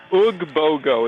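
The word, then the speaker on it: Oogbogo: We're UG Bogo.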